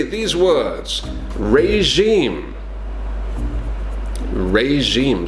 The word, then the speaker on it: regime: to say these words regime regime so again it's kind of similar to the word we said before genre it's got the same jaw the same sound this is a French word as well maybe regime Kent could